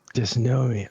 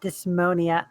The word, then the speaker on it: Dysnomia: Dysnomia. Okay. All right. Not dysmonia.